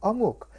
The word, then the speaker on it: eomuk: In Korea, Korea likes to use its native terminology, so we call it eomuk. How do you spell it?